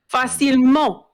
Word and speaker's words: facilement: It's like facilme. Oh, Facil. Facilement means Facilement. easily or easy. Oh yeah, that's right. Facilement. So like facile.